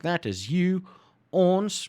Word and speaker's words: ons: like that is you owns pronounced like that is us or we yellow directly to